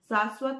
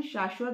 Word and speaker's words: शाश्वत: शाश्वत में श को श बोलना है, स को स बोलना है, शाश्वत नहीं बोलना है, शाश्वत बोलना है, संदेश दे रहा है, ठीक है।